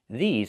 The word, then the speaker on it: these: These are cars. Not this is cars, but these are cars. Pronunciation. Make the long E sound like green beans. E, these, plus the Z sound like zebra. These.